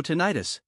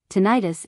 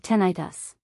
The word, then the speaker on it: tinnitus: what you mean however pronouncing it that way is giving it the ending itis such as in the tendonitis this medical ending indicates an inflammatory issue tinnitus is pronounced differently because